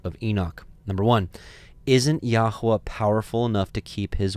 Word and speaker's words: Yahweh: uh the name of our heavenly father we pronounce it Yahweh others say Yahweh yahovah Etc and then lastly